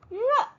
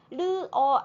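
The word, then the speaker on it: 热: 힘든 단어였고 써 놨지만 르어 아닌 건 알고 계시죠 혀끝이 입천장에 닿아서 안 되고 혀가네 입 안에서 리을 발음할 때처럼 요동이 치면 안 됩니다 그냥 혀가 이렇게 말린 상태에서 그대로 발음을 하셔야 하지요 르 르 르 다음은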